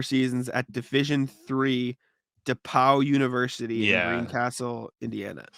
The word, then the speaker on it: DePauw: I'm questioning because DePauw, not DePaul, DePauw, DEPAUW.